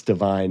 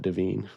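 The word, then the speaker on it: Devine: That's how you say it, by the way. It's Divine, not Deine, to my knowledge.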